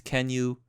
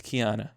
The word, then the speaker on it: Keanu: Reeves and I know I sometimes I say his name is Ken you but I believe it's Keanu so now that we